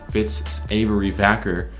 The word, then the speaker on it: Vacker: So we all know that like Ritz Savory Cracker sounds identical. It rhymes with Fitz Vacker.